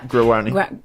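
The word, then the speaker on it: Guaraní: When you're a learner, for example, with a new language, let's say, focusing on, I can't say it, Guarani? How do you pronounce it again? Yeah. Guarani.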